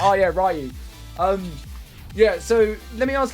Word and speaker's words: Ryu: It's Ryu, but you can call me whatever you want.